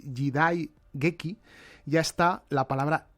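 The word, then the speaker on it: 時代劇: en esta palabra japonesa jidai geki, la he pronunciado mal, es jidai geki ya está la palabra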